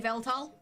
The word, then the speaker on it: Yveltal: Ben wanted an Yveltal, and that is how you pronounce it, Benjamin.